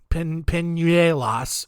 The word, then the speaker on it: Peñuelas: It's spelled like Peñuelas, but it's got that little accent over the end. So you go that nye, and my mouth can't do that. Peñuelas, whatever, it's a town.